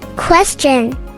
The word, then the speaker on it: question: ভুল উচ্চারণ, কোশ্চেন, সঠিক উচ্চারণ। Question. Question. Question.